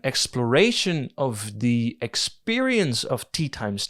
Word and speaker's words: Teatime: He constantly corrects people when they pronounce it as Teatime. There is this core of reality that bubbles up to the surface every time someone mistakenly says Teatime. He then rebukes them in contestation. The reality of his name comes to the forefront and says, no, you do not pronounce me as Teatime, you pronounce me as Teatime.